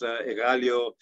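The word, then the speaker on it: Αιγάλεω: surround envelope protect athens about using modern greek pronunciation mount emitos pandeli egalio each one with its own particular gift uh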